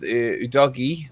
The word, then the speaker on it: Udogie: I think with Udogie, I always get his name. Is that how you meant to pronounce it?